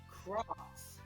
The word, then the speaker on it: XROS: Apparently that's pronounced cross.